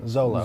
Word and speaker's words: Szolo: According to it's SZOLO, so solo. Zolo. Zolo. Zolo? Zolo. Zolo. The S is silent.